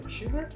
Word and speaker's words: Schubas: Schubas Tavern?